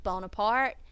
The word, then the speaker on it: Bonaparte: school in France where his name was now pronounced Bonaparte and spelled Bonaparte instead of the Italian bueno parte Napoleon even as a